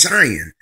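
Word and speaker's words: Dzyan: You see Zion spelled D-Z-Y-A-N. It's pronounced Zion, like Z-I-O-N.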